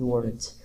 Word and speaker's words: weren't: Então vocês preparem, preparem os os ouvidos de vocês para muitas vezes não ouvir o t desse wasn't e weren't. Isso pode acontecer, tá? Então você vai falar tipo we were playing, they weren playing e assim vai.